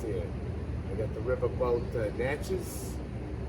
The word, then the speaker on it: Natchez: i got the riverboat natchez and that's how you pronounce it uh it's it's natchez i write you ain't